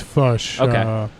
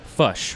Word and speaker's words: Foch: sense to me so fush right i got that so great and so it's like push but with a french sure yeah and so